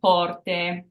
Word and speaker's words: porte: So it can be pronounced like it is in the alphabet, A. For example, porte. So it's pronounced this way when the E is at the end of the word. So it's that AY sound when it's at the very end of our word.